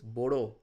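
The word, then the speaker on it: μπορώ: Now, there is one thing to note here is that this mu and pi m and p, this is an irregular cluster of letters. These are pronounced as b.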